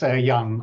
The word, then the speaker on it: Jan: how do you say how do you say your name it's Yan I'm from from the